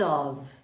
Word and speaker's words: of: O F tem som de V, porque é um F só, para diferenciar do off, que nós temos no botãozinho de on e off. Então, pronúncia de off com um F só é com V, of, of.